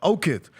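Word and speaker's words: Okoth: Okith.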